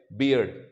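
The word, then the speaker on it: beard: पहिला शब्द आहे बिअर्ड त्याच स्पेलिंग आहे बी ए आर डी त्याचा उच्चारण असेल बिअर्ड आणि त्याचा अर्थ होत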